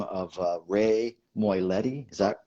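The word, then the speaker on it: Moylette: an irish boxer by the name of ray moiletti is that pronounced correctly yes and rey is a saint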